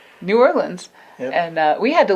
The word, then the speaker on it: New Orleans: And it's pronounced New Orleans. New Orleans. No, New Orleans.